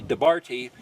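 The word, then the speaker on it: דבר: So if you want to look at this word, it's pronounced like the Bears. Like, you know, the Chicago team? Debar, or the beer.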